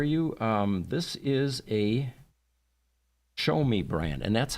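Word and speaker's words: Xiaomi: Um, this is a Show Me brand, and that's how you pronounce X I A O M I.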